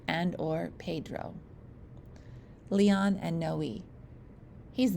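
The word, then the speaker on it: Noé: Pronounced Noe.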